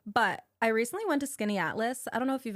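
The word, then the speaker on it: Skaneateles: Also, shout out to you for correctly pronouncing Skinny Atlas.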